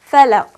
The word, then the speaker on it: falaq: Now that I know that I should be pronouncing the qaf with qalqala when it carries the sukoon, I will say Bismillahir Rahmanir Rahim. I will recite Qul a'udhu bi rabbil falaq. Falaq. Did you hear the qalqala?